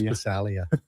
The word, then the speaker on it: Passaglia: Halsy would never say Passaglia, right? It was always Passalia. That's how they say it.